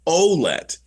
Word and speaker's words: Ouellette: Because we look at that name in Canada, and for the most 9 times out of 10, it's a francophone pronunciation. But it was, I'm going to get this wrong, but it was either his aunt or his grandmother. Somebody contacted the team and said, by the way, it's Ouellette.